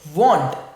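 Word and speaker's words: vaunt: So here the word is want. So the word is want. So you see the pronunciation is like W-A-N-T, but the spelling we write is V-A-U-N-T, want.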